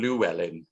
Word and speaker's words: Llewellyn: Mike would like the Welsh pronunciation, but Roger was much more anglicised, would prefer to be called Llewellyn, really.